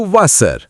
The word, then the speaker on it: Wasser: Rule number 1. W is equal to V. Wasser is equal to Wasser.